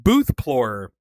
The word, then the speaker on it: BOOTHPLORER: your favorite thing that you have found on BOOTHPLORER?